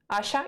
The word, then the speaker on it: Asia: a fun fact about my short name which is asha in polish but your pronoun you would pronounce it asia so people were actually